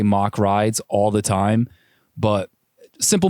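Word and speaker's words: Mack Rides: Like the last episode 8, I was saying Mac Rides, and it's actually Mock Rides. So my bad on that. I don't know why I did that, because I've definitely heard people say Mock Rides all the time, but simple mistake.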